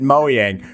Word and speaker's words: Mojang: meet on our walkthrough Craig who's from Moyang who also pronounced it Moyang.